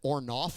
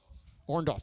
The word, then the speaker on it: Orndorff: Now, I have to ask, but it sounded like Tommy said Ornoff, not Orndorff. Have I been mispronouncing that all afternoon? Orndorff, okay.